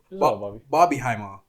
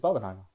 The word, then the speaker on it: Barbenheimer: Because Barbieheimer, we were talking about Oppenheimer before in here, but Barbenheimer. Yeah. I never heard anyone say it like that, but Barbenheimer. It's Barbenheimer.